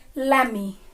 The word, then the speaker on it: lemme: लेट मी से बन जाता है LEMME, लैमी।